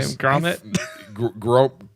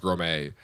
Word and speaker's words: Gromit: Gromit? I think it's pronounced Grommet.